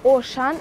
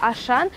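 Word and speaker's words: Auchan: Во Франции он читается именно так, Ошан, а не как у нас в России перевели Ашан.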